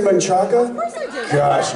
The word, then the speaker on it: Manchaca: Yeah, there's some odd pronunciations in Central Texas. Guadalupe. My favorite is what looks like Manchaca. Manchac.